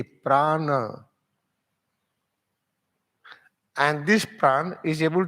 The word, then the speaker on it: prana: What is the pran how we pronounce pran p r a a n a Prana and this plan is